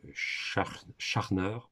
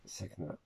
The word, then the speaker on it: Schachner: Kyd et Sarah Schachner, soit on le prononce à l'allemande ou à l'anglaise. Donc, Scharner ou Sackner. Voilà, Sackner.